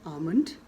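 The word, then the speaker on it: almond: अगला शब्द है आमंड, यानी कि बादाम, तो इसे हम कहते हैं आमंड। आमंड। यहाँ पर एल को नहीं बोला जाता।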